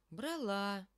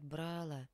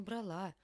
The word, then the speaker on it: брала: на И падает ударение брала некоторые говорят брала это неверно конечно брала Вот почему вас и